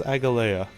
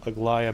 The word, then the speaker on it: Aglaya: For some reason I thought it was Agalea. But now seeing how she pronounced it and how it's spelled, Aglaya makes a lot more sense.